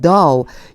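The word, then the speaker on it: dough: it waled all though do 요에 gh 발음이 안나요 노라고 읽어 주시면 돼요 요거 반죽이에요 요즘은 은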